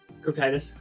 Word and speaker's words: Cocytus: But we were short on one of these, so I'm at 3 Coctus Breath for this list. We were hoping we had one more, because it's just an indiscriminate... Pronounce that again? Cocytus.